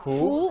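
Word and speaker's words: 福: Fu? fu. Fu. Second tone.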